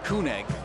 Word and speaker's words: Egg: the ball into him Danny egg is actually how it's pronounced egg is from Denmark so egg it is out wide here now to